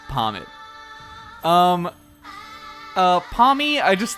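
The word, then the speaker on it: Pawmot: wolf Glick video and he called this one pomet which apparently is the uh actual pronunciation they have them say that in uh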